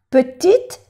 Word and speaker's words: petite: Petite, no se pronuncia la E, fille.